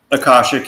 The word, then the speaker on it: Akashic: about, except I think that, and how's it pronounced? Akashic? Akashic, yeah.